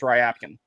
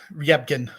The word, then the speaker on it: Ryabkin: want to point out about Rapkin, which apparently is the correct pronunciation of his name. I was under the impression it was Ryabkin. Yeah, it's I don't know, Ryabkin. The Y goes fast.